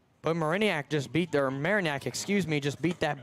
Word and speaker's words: Mariniak: or marinyak excuse me gotta get used to saying marinack as I've been saying mariniak as that had a better flow but that's not the correct way to say it bouncing ball towards short